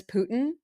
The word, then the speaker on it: Putin: It's Putin, you guys. Somebody pooted. It's like you say it like somebody pooted. Putin. Yeah, but there's still like a hint of a T when you're saying that.